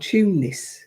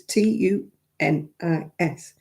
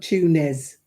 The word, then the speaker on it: Tunis: There's a place called Tunis. It's T U N I S. Tunis. And it's in tunisian. It's not tunes. Tunes. There's no knees in the middle of it.